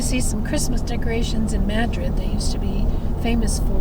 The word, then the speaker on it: Madrid: By the way, they don't pronounce Madrid here like the Spanish do, Madrid. They pronounce it with emphasis on the first syllable, so it comes out Madrid.